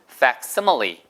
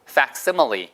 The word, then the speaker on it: facsimile: 거기다 fact이 만들다는 뜻이라서 같게 한쪽에서 집어넣으면 다른 쪽으로 같게 나온다 해서 그게 팩시밀리고 정확한 발음은 facsimile. facsimile.